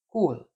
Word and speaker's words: Coll: The name is pronounced as cool.